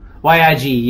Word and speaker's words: Yig: Could you spell it just so I have it correct? Y-I-G, Yig.